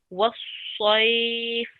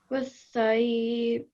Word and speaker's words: والصيف: And then over here, I highlighted this because this needs to also be pronounced thick. Sad is one of the thick letters. Okay. 1 second. So that would be والصيف. والشيء. والصيف.